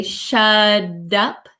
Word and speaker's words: shut up: up shut up um sounds like a soft D sound shut up so when the t comes between two vowel sounds it can change the pronunciation so shut up shut up my tongue goes up like a D sound shut up shut up